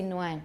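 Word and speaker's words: Nguyen: sound like it looks we can't start a word with no so for me it would be but people do say nuen you're right because they can't pronounce an ng at the beginning of a word in theory in practice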